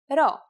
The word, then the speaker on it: ρ: Our first letter this time is the consonant ro. Its sound is r and is exactly like the English R.